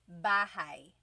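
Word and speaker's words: bahay: You might notice that the spelling is a y at the end. So it looks like bahi, but it's pronounced bahi. That a y combination is bah.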